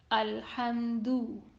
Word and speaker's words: الحمد: So, Alhamdu is commonly read Alhamdu. That is not correct and it is majhul sound. Its Dhamma should be read with the sound of letter U. Alhamdu.